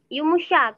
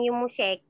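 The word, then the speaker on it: yumuşak: Yumushak, bukan Yumushek. Yumushak, G.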